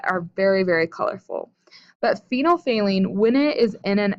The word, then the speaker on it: phenolphthalein: hydroxide ions you have now this word here phenolphthalein and that's how you pronounce it phenol saline took me many years